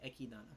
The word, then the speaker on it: Echidna: next thing you know echidna calls them i'm still going to say ekidana because that's how they say it in japanese says once again you